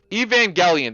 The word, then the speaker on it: Evangelion: Evangel Evangelion. That's how you pronounce it.